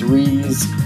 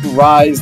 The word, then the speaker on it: Rise: Yes, it's Riz, not Rise, like spelling the name is spelled.